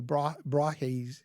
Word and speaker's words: Brahe: This is Tycho Brahe's model. I think I'm pronouncing that correctly, Brahe.